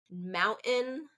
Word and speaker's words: mountain: I say mountain a lot of times because that's a dialect, kind of West Coast dialect pronunciation. Mountain versus mountain. Both are correct, but I tend to do that glottal stop is what it's called, mountain, because of where I live in the United States, which is in Arizona.